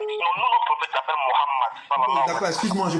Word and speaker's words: Mohammed: Sinon, nous, notre prophète s'appelle Mohammed. D'accord, excuse-moi, je prononce mal, pardon, je ne le savais pas.